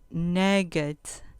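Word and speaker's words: נֶגֶד: verbo encontrar 50 48 nuggets nugget con acento en la penúltima sílaba nagat preposición parte opuesta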